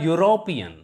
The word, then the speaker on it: European: sound beginning let us e and u produce a u sound and this e sound is a is a consonant sound although it is a vowel but these two vowels produce a consonant sound that's why we use a before it a european